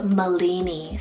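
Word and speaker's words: Malini: then for another M name here we have molini spell m a l i n i molini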